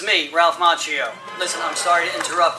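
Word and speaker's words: Macchio: Danielson, uh, played by Ralph Machio, which is actually the Italian way pronounced Mchio, but I believe he pronounces it Machio, and I'll respect his decision.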